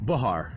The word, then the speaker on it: Behar: Bahar, technically, Bahar. But I've heard it pronounced differently from other people too. So I actually met somebody named Bahar, who came to Fan Day, and they pronounced it Behar.